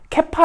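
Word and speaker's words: כיפא: 히브리어 랑 문제가 비슷해요 이 아람어로 바위를 뜻하는 말이 캡파 라 한다 나요 이렇게 꼬불꼬불 하니까 좀 모자라 보겠죠 케파 라고 읽어요 이 단어를 개 8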